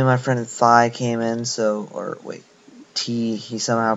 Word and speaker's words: Thi: But yeah, what I was saying was, his name is spelled T-H-I, but but for some reason he pronounces it T, like the letter.